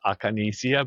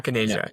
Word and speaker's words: Akinesia: So that's why in my head it's Acanesia because that's how you would pronounce it in Spanish. So maybe that's where it came from. But you pronounce it, I'm sorry, Acanesia? No. Akinesia, yes.